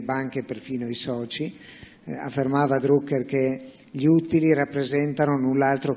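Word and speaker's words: Drucker: cominciato a svilupparlo deter druker quasi un secolo fa lo pronuncia alla tedesca anche se più conosciuto come americano perché era di origine austriaca e se ne andò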